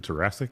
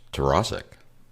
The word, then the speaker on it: Tarasik: and today, our guest is Tarasik, which is, all right, am I saying that right? Is it Tarasik? It's close. Tarasik. Tarasik, okay. So it's my fault.